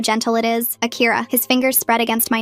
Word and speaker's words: Akira: Say Akira." "Akira." "No, you need to soften the R, like this. Akira."